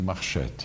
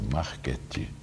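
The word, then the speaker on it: Marchetti: era uma composição de marchete ele assim italiano não existe marchete existe é Marquete Então não diga besteira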